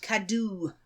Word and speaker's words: Cadw: Cadw. Which is spelt CADW.